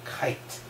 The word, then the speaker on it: Kuyt: Except the ones that I know, like Dirk Kuyt. Although, there's two ways of pronouncing his name, isn't there? Because a lot of people call him Kite.